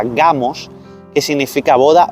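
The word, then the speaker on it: γάμος: la palabra número 1062 en griego que se pronuncia gamos que significa boda o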